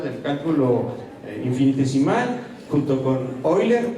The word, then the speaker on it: Euler: cálculo infinitesimal junto con oiler o Euler como ahí se escribe y el príncipe de